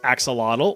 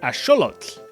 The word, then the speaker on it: axolotl: You've probably been saying this as axolotl or ajolote from my Spanish speakers, but it actually comes from the Nahuatl language, so it would be correctly pronounced as axolotl.